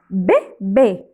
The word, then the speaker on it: bébé: Alors, on le prononce B, B, B. Bébé. J'ai un bébé. Voilà le bébé. C'est deux accents aigus. Alors, on ferme la bouche un peu. On dit bébé. C'est fermer la bouche.